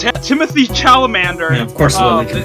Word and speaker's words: Chalamet: I can't pronounce his last name. Timothy Chalamet.